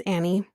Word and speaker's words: Annie: I kept saying Anne. It's Annie. But Annie and Kyle, we're going to talk about them first.